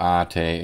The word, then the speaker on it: ate: If you've visited the Philippines as part of an Australian Filipina relationship, no doubt someone has called you "kuya" or "ate" (pronounced like "ah-tay") if you are a girl.